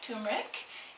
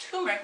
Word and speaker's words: turmeric: I'm going to talk to you today about turmeric. It is often pronounced turmeric without the first R. It's easier for people to say.